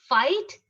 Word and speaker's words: fight: next one is daughter fight straight okay which word is silent which letter is silent in this just concentrate naiba daughter it's like doctor g h is silent fight f i g